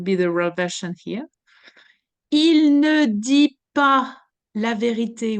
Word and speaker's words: il: Even the il could be shortened. You see, I'm going only to pronounce the i. I.